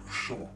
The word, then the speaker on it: Sean: Sean first things first the correct pronunciation of my name is sha from the back of the throat say it like you're still in the Old Country tending sheep and swilling warm beer while the entire Village